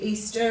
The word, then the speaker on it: Easter: Easter is another schwa sound on the end, where we tend to go Easter, but if you say it correctly, Easter, it's easier to spell, so just remember which